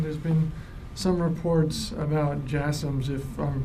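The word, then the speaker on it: JASSM: um to Ukraine there's been some reports about jums if I'm pronouncing that correctly the last question yes jasms yeah you're pronouncing it correctly um I I don't have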